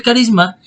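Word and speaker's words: χάρισμα: esta clase y el carisma viene de la palabra griega carisma así se pronuncia pero las letras obviamente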